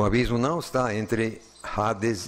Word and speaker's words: Hades: e no Novo, Hades, ou como o H em português não se pronuncia, nós escrevemos com H, mas acabamos assim engolindo e sai Hades. Mas escreve com H, por favor.